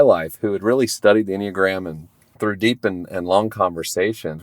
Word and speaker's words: Enneagram: called called the inag now if you've never heard of the inogram it's spelled e n n e a g r